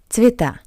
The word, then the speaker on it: Цвета: I is stressed. Ye is unstressed. That's why we pronounce ye as I. Цвета.